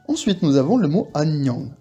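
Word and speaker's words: 안녕: celui-là à part que on a deux N qui se suivent deux N qui se suivent et bien on va bien les prononcer les deux AG vous voyez bien que j'appuie sur le N agang anang vous entendez bien agang ça veut dire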